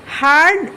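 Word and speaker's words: heard: That look like বিয়ারড। যেটা দেখতে বিয়ারডের মত। But sound like bird. কিন্তু এটার উচ্চারণটা হচ্ছে বার্ডের মত। মানে কি? দেখো এই যে হার্ড এবং বিয়ারড দুটো শব্দের বানান কিন্তু প্রায় একই।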